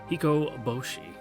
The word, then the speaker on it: Hikoboshi: God so many O's hiko Boshi there we go I put the emphasis on all the wrong syllables there uh in the legend